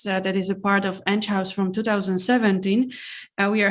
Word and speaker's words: Enghouse: maybe you're even wondering how to pronounce it is it enghouse is it end house so it's edge house interactive and um we are